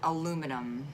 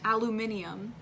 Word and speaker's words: aluminum: Next one, aluminum. Aluminium. And that's how they say it in England, right? They say aluminium, Yeah. but we say aluminum.